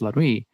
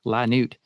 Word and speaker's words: La Nuit: a night race, and it is pronounced La Nuit, not La Nuit, which a lot of people take a second to like, what is this?